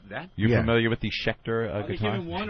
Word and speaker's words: Schecter: Yeah, that's Schecter.